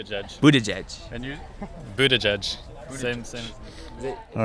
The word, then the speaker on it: Buttigieg: Pete's last name well I see see the boot Edge Edge sign so I'm going to go Pete Buddha judge Buddha judge Buddha judge Buddha judge and you Buddha judge same same all right